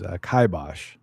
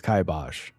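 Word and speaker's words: kibosh: The uh British English pronunciation is kaibosh. The American uh way to say it is kaibosh. However, there's a subsection of an American pronunciation that's kabos.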